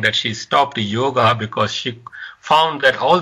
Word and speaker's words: yoga: This Indian lady was saying that she stopped yoga because she found that all the yoga instructors are white.